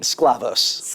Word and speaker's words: Sklavos: how do you pronounce your last name? Scavos. Sclavos.